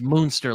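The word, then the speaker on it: Münster: you spell that the moonster Rebellion m u NST and that U does have umlout dots in Germany oh it's moonster like like like the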